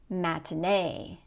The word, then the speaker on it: matinee: So in these words, you're going to put stress on the last syllable. Employee, matinee, nominee.